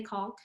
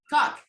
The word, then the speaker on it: caulk: do you do a silent L when you say caulk? No. Oh Caulk? wait, yeah, silent L. Yeah, I You do. say No, I do caulk? the silent L. Cock.